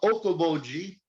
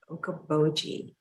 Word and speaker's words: Okoboji: It's a hard one to pronounce, and it is called Okoboji, Okoboji.